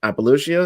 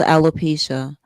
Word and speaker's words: alopecia: that jd pika has apologia is that how you pronounce it it's called alopecia alopecia is in his third